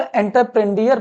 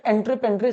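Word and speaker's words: entreprendre: मतलब कई लोग इसको एंटरप्रेन्डियर पढ़ते हैं, बट एंट्रेपेंड्रे सही प्रोनाउंसिएशन होता है।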